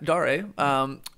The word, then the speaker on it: Dare: Yeah, Dare.